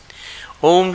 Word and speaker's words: ओम: ओम जो है अ उ म मिला के बोला जाता है। ओम ओम ओम ओम ओम ओम। ये अ उ म 3.5 मात्राओं का है।